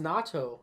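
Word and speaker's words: 納豆: even know what nato is i think it's pronounced natto and it's like spoiled beans right i'm white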